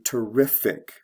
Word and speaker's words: terrific: is actually a verb terrify to terrific i put these together because they all have the ic ending in the adjective form the stress goes from the first to the second syllable ify is a verb ending